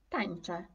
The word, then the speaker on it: tańczę: Na końcu słowa, na końcu czytamy jako e. Ok, na przykład tańczę, tańczę. Ja nie mówię tańczę, Mówię tańczę, tańczę.